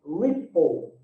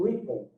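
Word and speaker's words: Replit: o início a concepção desse dessa plataforma é ripple ripple que seria a pronúncia correta né que eles utilizam talvez eh ela até comentou né que tinha a ver também com ribble de Rebelde né então ripple ripple seria a pronúncia né e o que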